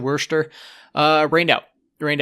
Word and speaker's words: Worcester: Phil uh Tuesday versus Worcester that's just how you pronounce it Worster uh rained out it